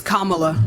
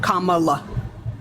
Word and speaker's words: Kamala: so for um for Kamala Harris I'm sorry if I pronouncing her name wrong but for my question for her it's it's Kamala Kamala Kamala okay like comma like a comma and then La yeah yeah yeah okay